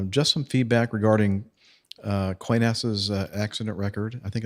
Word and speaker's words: Qantas: from Australia uh just some feedback regarding uh coinassa's uh accident record I think is the way you say that qantasy yes that's the proper pronunciation yes well it is true that they